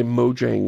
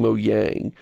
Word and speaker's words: Mojang: pronounce it you know do the j is a y thing that's hilarious a hilarious mispronunciation but then i hear you saying mo yang so maybe i've been